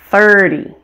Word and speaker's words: thirty: strongest on teen and the numbers ending in zero are stressed on the first syllable repeat after me thirteen thirty fourteen forty fifteen fifty